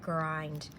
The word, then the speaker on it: grind: This pattern right here is going to give you a long vowel I, grind.